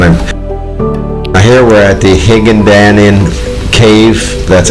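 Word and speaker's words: Hinagdanan: And here we're at the Higandanin Cave. That's how you pronounce it.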